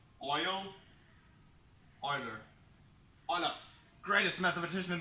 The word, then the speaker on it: Euler: you're an English speaker you probably want to pronounce it you can say oil oiler on a greatest mathematician in the world Marty